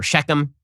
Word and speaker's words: Shechem: Okay, Shechem, or Shechem, as it's pronounced in English, is now an Arab city.